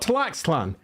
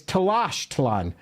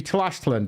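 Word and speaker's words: Tlaxtlan: use of foreign language it's not tlan it's Tash tan because x's in uh that particular language are pronounced with a sh sound Tashan so if you want to pronounce it correctly it would be Tashan but who does that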